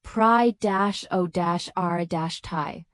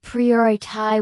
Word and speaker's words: priority: And English learners almost always say pry- o- rash- thai with stress on the third syllable. When native speakers say priorai with clear stress on the second syllable, this misprononunciation is particularly